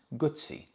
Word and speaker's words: Guzzi: And I explained to him, no, it's not, because two Z's in Italian is pronounced T-S, Guzzi.